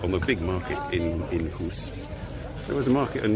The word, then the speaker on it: Goes: Welcome to Hoos. If Kimberly's watching, she knows how to pronounce that. She's got a sore throat as well, so it helps when you need to pronounce Dutch words in English.